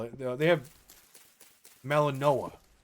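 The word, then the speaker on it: Malinois: Pronounced Melaninoa.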